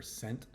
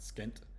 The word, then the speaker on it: scent: e by the C so when there's e or I next to the C it turns into a soft C so school there's no e or I next to that c so it's the hard C school and scent and science there's the E next to the C there's the I next to the C so it's scent and science it's not skent it's scent because that